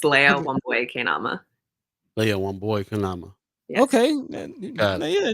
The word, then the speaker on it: Leah Wambui Keinama: our special guest from the Documenters program, Miss Leah Wambui Keinama. Did I say it right? Pretty close. It's Leah Okay. Wambui Keinama. Leah Wambui Keinama.